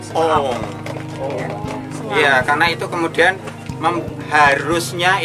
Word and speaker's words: Om: Itu dibaca O. Padahal itu sebetulnya membacanya adalah Ong.